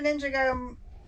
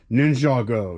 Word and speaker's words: Ninjago: let's pull some orders uh three Alpha Lego ninjo n wait I'm saying it wrong what is it uh somebody told us nin ninj Ninjago Ninjago okay let me be proper no I